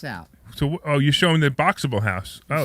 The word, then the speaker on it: Boxabl: It's Boxable, and it's spelled BOXABL.